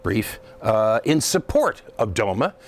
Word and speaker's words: DOMA: Court about the federal Defense of Marriage Act or do which is pronounced Doma that law limits the